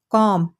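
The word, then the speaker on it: comb: को कहते हैं कॉम यह आपने कॉम नहीं पढ़ना बी साइलेंट है कॉम कॉम कॉम hammer hammer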